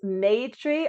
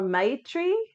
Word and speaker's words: Maitri: The Sanskrit pronunciation is Maitri or Maitri.